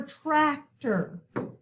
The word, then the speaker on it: tractor: Same for tractor, okay? The accent mark is on the first syllable, but the OR is in the second syllable.